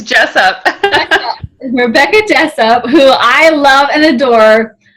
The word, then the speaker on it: Jessop: It's Jessop.